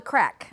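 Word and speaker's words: Craic: There I am with Kate, but it's pronounced it's spelled C R A I C. And crack means fun. No, crack. My producer is saying Craig.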